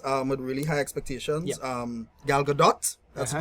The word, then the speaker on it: Gal Gadot: Gal T is silent, Gadot.